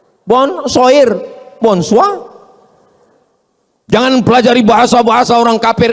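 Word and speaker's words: bonsoir: Tulisannya bonur bacanya bonjou. Bon soir, bonsoa.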